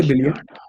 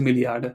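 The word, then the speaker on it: Milliarde: billion we say Milli okay people will say billion people will say billion you know because very often people use German they will use the English word as it is but I think the correct way to say it is milliard but again you don't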